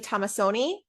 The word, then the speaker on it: Tomassoni: RE/MAX Advantage Plus, Abby Tomassoni. Abby, I said it wrong again, didn't I? Nope, you said it right.